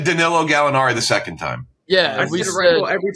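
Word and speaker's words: Danilo Gallinari: He said Kenj said Kenjack said Danilo Galinari the second time. Yeah. Every time. Well, when we first though very distinctly hold on distinctly Dario Galinaro was the first guess. That's that is very wrong.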